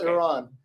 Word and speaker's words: Iran: I mean, whatever you call it what you want, but that's just it's pronounced Iran.